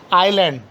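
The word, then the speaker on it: island: एस कब silent रहता है? एल से पहले अगर एस आता है, एल से पहले अगर एस आता है तो एस क्या हो जाता है?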